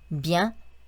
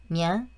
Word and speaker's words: bien: bien, tiens, bien. 네, 비앙도 아니고 비앵도 아닙니다. 그 사이 발음이 맞다고 생각하시면 되시고요.